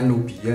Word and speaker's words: Nubia: Ini bacanya Nubia ya.